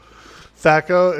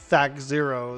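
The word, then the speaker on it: THAC0: THACO, exactly. It's not even O, actually. It's a 0. THAC 0 is what probably how you're really supposed to pronounce it.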